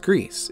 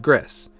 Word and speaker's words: Gris: know what you're thinking despite being spelled that way it is actually pronounced Greece instead of Gris Greece is actually French for gray and I'll get into